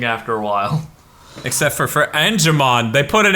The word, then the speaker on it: Angemon: Yeah, oh yeah, it is Angemon. Is it in English? Yeah. Oh, okay. I always heard motherfuckers pronounce it Angelmon.